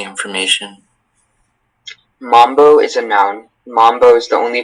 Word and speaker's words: mambo: Mambo is the only pronunciation.